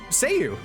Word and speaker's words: Seiyu: Yeah, it's Seiyu, right? That's how you say it.